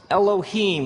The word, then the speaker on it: Elohim: it would look something like this and it's pronounced Elohim let me hear you say Elohim in the beginning Elohim created the heavens and the earth now the